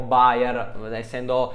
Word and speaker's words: Beyer: se fai questo nome Beyer o buyer Essendo la lingua originale si dovrebbe pronunciare bene Io l'ho sempre chiamato Beyer Mannaggia a me solo